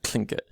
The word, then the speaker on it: Tlingit: different spellings they although should be pronounced kind of clink it so the l is an aspirated l so if you're not